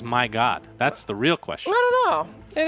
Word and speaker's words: Mryagut: you goop my god apparently we mispronounced a the whole time for to turn announcing oh my god is this I mean that's what it looks like to me I mean why would you not want your name to be pronounced as my god that's the real question